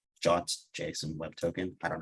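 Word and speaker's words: JWT: and then others might use uh what's called jot Json web token I don't know why it's pronounced challenge but it is um and Alex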